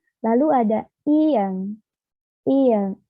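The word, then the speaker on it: 이응: Lalu ada ieng, ieng. Nah, ieng ini jika berada di depan vokal, maka dia menjadi silent voice atau tidak terbaca. Tetapi jika berada di akhir kalimat, ieng ini bunyinya menjadi eng.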